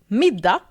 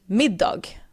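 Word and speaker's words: middag: When I'm pronouncing the word mida, I am skipping the g because the word is spelled m i d a g. So you could pronounce it mid dog.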